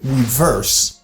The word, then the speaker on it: reverse: back, ou parler de reverse. Reverse! On parler de backup. Backup. Reverse, c'est back. Reverse. OK? Vous entendez bien, je me dis, moi dit reverse. Reverse. Stress is on the second syllable verse.